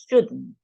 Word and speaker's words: should: it's better to use the contracted forms okay shouldn't shouldn't so he shouldn't shing shing sh meting okay